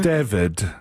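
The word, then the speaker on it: D4VD: DVD or something because the guy's name is D4 VD and pronounced David.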